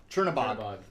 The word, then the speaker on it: Chernabog: can't pronounce it right. The Chernobog. Chernabog.